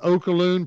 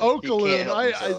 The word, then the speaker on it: Oluokun: Because Oluokun. Aluakun? Aluakun. More Hawaiian. Right. I got to go Hawaiian. So no, it's African.